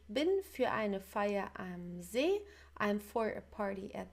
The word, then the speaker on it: See: So make sure the pronunciation is not that like the English sea, it's See in German, okay, See.